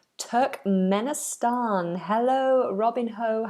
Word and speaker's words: Turkmenistan: give you any misinformation this one is Turkmenistan Turk Menan hello Robin ho how are you Turk Menan